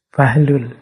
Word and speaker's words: Buhlul: Ini ada yang membacanya Bahlul, ada yang membacanya buhlul. Saya milih membaca Buhlul saja ya.